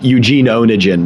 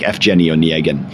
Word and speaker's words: Evgeny Onegin: writes is called Evgeny Onegin, or often it's pronounced in English Eugene Onegin, but that's not really right. It's something more like Evgeny Onegin.